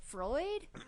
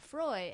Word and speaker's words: Froy: Because she's like, Freud? No, Froy. And then she writes it F-O-R-Y. Yeah. It rhymes with joy.